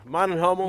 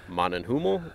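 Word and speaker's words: MANN+HUMMEL: All right guys, so we're with Brandon with Man & Hummel, and is that how you say it? Yeah, Man & Hummel.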